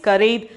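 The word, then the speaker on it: खरीद: karid next one curry the pronunciation is kareed the meaning is by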